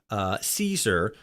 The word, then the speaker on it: Caesar: pronounced with a K, it's C, outside faction pronouncing it like, Caesar, or something like that.